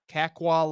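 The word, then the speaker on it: Kakwa: Kaqua Lake.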